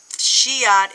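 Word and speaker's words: Scheat: And Shiat is spelled S C H E A T.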